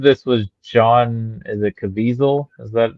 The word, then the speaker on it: Caviezel: And I believe this was John, is it Caviezel? Is that not John Caviezel? How do you say his name? Hazel. Caviezel.